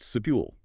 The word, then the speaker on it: subtle: The silent B strikes again, sitting right there in the middle, just ready to trick you. Yes, it's pronounced subule.